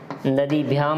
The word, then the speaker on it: नदीभिः: देखिए उच्चारण का भी आपको अच्छी तरह से ध्यान रखना है कि नद्या, नदीभ्याम, नदीभिः, थोड़ा इस विसर्ग को हल्के ह के तौर पर उच्चारित करना है।